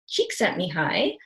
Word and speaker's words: Csikszentmihalyi: do is so his name is Amy hi Csikszentmihalyi and I did have to look up how to pronounce that so that is the spelling of